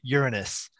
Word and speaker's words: Uranus: also soon on yes there's a reason why most of us in outreach will pronounce it uranus and that's just so that we avoid any other association with certain english words you know what's interesting